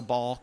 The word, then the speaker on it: Balke: Pronounced Ball Balke. Key. Right. Balke. Exactly. Yes. Gotcha. Ball and key.